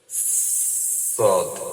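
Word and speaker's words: ص: সদ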